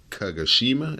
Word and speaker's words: Kagoshima: gonna turn over to the destruction card and kagoshima is how you say that the I think